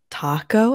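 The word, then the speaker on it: Tako: So I think they're calling it Taco, I believe is how it's pronounced, but it's with a K, not a C.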